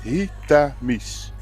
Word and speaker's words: Hietamies: And Google said you pronounce it as he miss.